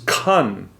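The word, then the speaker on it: 坎: number 47, which is, I'm going to attempt the Chinese pronunciation, kun. Then we had number 20, which is quan. And then we had number 29, which is kan.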